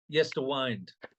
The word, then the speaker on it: Yesterwynde: Yesterwynde, how I pronounce that? Yesterwynde.